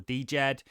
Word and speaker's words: Djed: it and really explaining what jed is or djed um the d of course is silent as everyone likes to